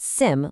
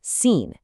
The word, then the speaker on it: assim: It's not sim like the English word, it's assim.